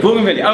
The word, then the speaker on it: Bougainvillea: Bougainvillea.